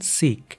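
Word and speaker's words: ਸਿੱਖ: যারা শিখ নামে পরিচিত শিখ নামে প্রচলিত হলেও সঠিক উচ্চারণ সিক ইংরেজিতে সিক শব্দের কাছাকাছি কেবল কে এর স্থানে কেইচ উচ্চারণের ন্যায় পাঞ্জাবি শিখনা শব্দের অর্থ শিক্ষা এবং সিক অর্থ শিক্ষার্থী বা শিষ্য।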